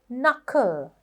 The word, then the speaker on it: knuckle: Knuckle. එකත් knowledge, knife, knit වගේ knuckle. Knuckle කියනකොටත් knuckle. මෙතන K එක silent.